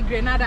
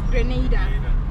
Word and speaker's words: Grenada: We call it, as a Kenyan we say Grenada. I said that for the longest too. Oh. Until I came to learn they pronounce it as Grenada.